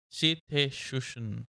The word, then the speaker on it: cetacean: Give me the pronunciation. Cetacean.